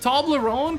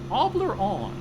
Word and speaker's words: Toblerone: Tobleron. I say tobleron. In Norwegian you do say tolla which I don't like. Don't pronounce the e.